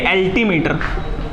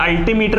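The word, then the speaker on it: altimeter: एल्टीमीटर, अब देखिए एल्टीमीटर या अल्टीमीटर भी कहते हैं इसको।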